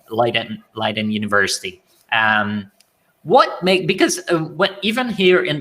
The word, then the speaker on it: Leiden: By the way, I think I was saying Leiden. What's the right way to say it? Is it Leiden? It's Leiden, yeah.